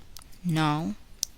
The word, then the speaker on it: know: The letter k is not pronounced in the following words. Listen and repeat each word after the speaker. Know, knew, knowledge, knee, knife, blackguard.